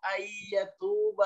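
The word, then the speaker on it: أن يتوب: Wallahu yuridu ayyatuba alaikum. Bacanya ayyatuba, jadi idgham ya.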